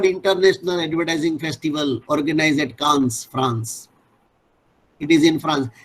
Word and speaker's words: Cannes: Yes, Cannes. It is pronounced as Cannes, Nikhil.